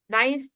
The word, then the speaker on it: knife: These K are not pronounced.